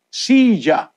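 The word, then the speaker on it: silla: Kasi po sa Kastila, Cilia. S-double-L-A. Dito sa Latin America, hindi Cilia. Pagka double L ginagamit, ja. Para Sija. No?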